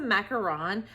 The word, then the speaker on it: macaron: Macaroon or macaron? There's I know there's two different kinds. I think this is a macaron where the macaroon is more of like the coconut nut treat.